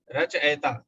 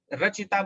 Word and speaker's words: रचयिता: में दिक्कत होती है तो रचयिता बोलते हैं इसलिए लिख देते रचियता खोलिए मृत्युंजय एक ध्यान